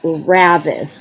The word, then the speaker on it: Ravicz: your last name Sone it's it's pronounced Ravis okay as if were an S okay as if it were s okay so we're lucky